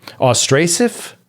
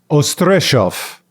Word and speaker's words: Ostrzeszów: a town called i i've learned about the pronunciation since i believe i have this right it's us uh oh man i got it again austrasif oh stress off e-s-z is like a z-s-h okay to this town